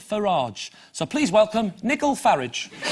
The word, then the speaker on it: Farage: leader of you Kip who likes his name should be pronounced Nigel Farraj so please welcome Nikhil